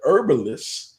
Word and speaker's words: herbalist: You know, and I just found out the H is silent. So they're herbalists.